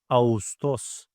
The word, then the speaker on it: Ağustos: And while I'm reading it, soft G combines two vowels, which are A and U, in a smooth way. I'm not reading it as Ağustos, I'm reading it as Ağustos. Ağustos.